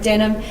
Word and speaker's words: Denham: y n e and denim is spelled D n h a n so denan but it's pronounced Denim and Ross that was